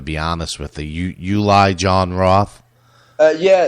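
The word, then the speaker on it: Uli Jon Roth: You Uli John Roth. Uh yeah, it's Ulie John Roth.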